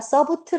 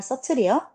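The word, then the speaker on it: subtle: 서틀은 미묘한이란 뜻이고 B가 발음이 안 돼요. 서브틀 아니에요. 서틀이에요.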